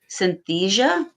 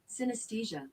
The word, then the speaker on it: synesthesia: that uh let's see pronouncing synthesia synthesia let's see what oh here we go synesthesia synesthesia it sounds my